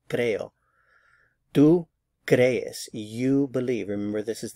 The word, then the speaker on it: crees: Tú crees, you believe. Remember, this is the informal you. So the stress is on this first syllable, crees. Be sure to get the two E's in separate syllables.